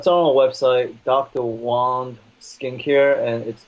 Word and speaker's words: Wang: Wong skincare and it's actually my last name is pronounced 1by spelled wang complain she said er